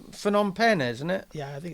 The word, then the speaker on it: Phnom Penh: from Ritherpole in, do you know how to pronounce? Is it Phnom Penh? It's Phnom Penh, isn't it?